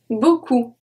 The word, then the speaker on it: beaucoup: We have beaucoup.